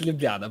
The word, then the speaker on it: Ljubljana: Ljubljana? It's Ljubljana, but okay. We That- say wait. for J, we say yeah. We don't say J. but Oh, we say yeah. so That's why. Ljubljana?